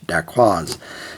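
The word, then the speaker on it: dacquoise: France we have one few words I can pronounce in French da quaz thanks to ban H now daqua itself is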